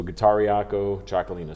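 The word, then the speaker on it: Getariako Txakolina: it's so guitariaco chocolino so there is guitaria and uh chocolina is the the the name of the winemaking region um and so t-x-a-k gotcha so in spain they spell it ch and in basque country it's tx and how's your wine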